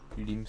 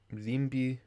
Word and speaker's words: limbi: Oh yeah, because the last I isn't pronounced. Which is weird, which is probably why the other word for limbi with two I's is then pronounced limbi. Like one I is silent, one I is not.